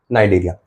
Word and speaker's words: Cnidaria: ओ silent है और नाइरिया में सी साइलेंट है। सिलेंटेटरेटा नाइडेरिया।